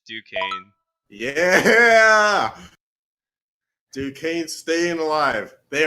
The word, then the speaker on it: Duquesne: Oh, it's Duquesne.